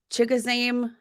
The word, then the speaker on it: Chigoziem: Like, I don't think it's like the most among preseason, regular season, Chigoziem Okonkwo.